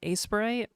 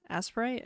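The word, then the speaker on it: Aseprite: Uh right now I've been using Aspirite. Aspirate. Aspirite. I think it's pronounced aspirate because it's like aspiration and sprite and not and the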